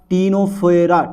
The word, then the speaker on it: Ctenophora: है वो है हमारा टीनोफोरा। ठीक है बेटा डाल दो जरा। टी नो फोरा। ठीक है सर। टीनोफोरा यानी कि सरफोरा। टीनोफोरा डाल दे बेटा हेडिंग। ओके। ओके। सी साइलेंट रहता है।